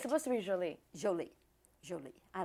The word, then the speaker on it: Jolie: angelina hi jolie yes the emphasis on the joe jolie joey jolie yes because